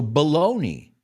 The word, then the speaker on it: bologna: Also, bologna was very popular, and it still is, mortadella de Bologna. Pero se escribe Bologna, pero se llama bologna.